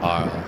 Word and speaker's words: Arles: Arles. I guess the S is not pronounced.